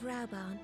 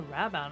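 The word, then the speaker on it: Raubahn: I would seek your counsel I speak of raban and his future a raban I've been saying it wrong all all know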